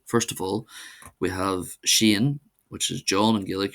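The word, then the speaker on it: Seán: So first of all we have Shane which is John and Gillik you'll most if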